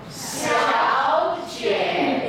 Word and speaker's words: 小姐: Two third tones together. 小姐 exactly. Abdomen. 小姐 Now you know whenever you do a high sound, what do you do? 小姐 What do you do with your body? 小姐 That's right.